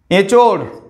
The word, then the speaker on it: এঁচোড়: এঁচোড়, এঁচোড়, এ বলছি যখন উচ্চারণে তখন সানুনাসিক স্বরধ্বনি হচ্ছে না, কিন্তু এঁচোড়, এর উপর যখন চন্দ্রবিন্দু দিচ্ছি তখন হয়ে যাচ্ছে সানুনাসিক স্বরধ্বনি, এঁচোড়।